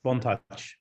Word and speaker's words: Bontouch: Yes, Bontouch. Slightly French.